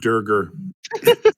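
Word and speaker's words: duergar: that pronounced I believe it's pronounced durger every time a cheeseburger Let's Do It um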